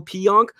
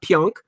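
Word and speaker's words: Pionk: bit and then Neal P onk before him Brian by the way we've been strongly urged to say his name correctly it's not P onk it's P onk so we'll get that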